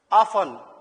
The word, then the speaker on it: often: Next, ऑफन. ऑफन, OFTEN, ऑफन से T silent होता, ऑफन बोल के पढ़ना चाहिए.